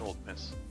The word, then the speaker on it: Ole Miss: Wait, is it Ole Miss? Did I spell it wrong on my cheat sheet? Yes. No, it's spelled that way, but it's pronounced Old Miss.